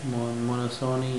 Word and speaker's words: monopsony: P is silent, okay, monosony and oligosony.